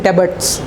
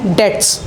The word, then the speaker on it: debts: DEBTS, इसको कई बच्चे पढ़ते हैं डेब्ट्स। नो बेटा, ये गलत है। इसका जो प्रोनाउंसिएशन होता है वो होता है डेट्स।